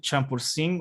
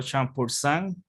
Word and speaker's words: Champourcín: Pueden pronunciarlo Champursin o Champursan en francés si le gusta. El que tiene ahí un poquito, tú sabes, el J de francés, puede hacerlo con su Champursan si desea.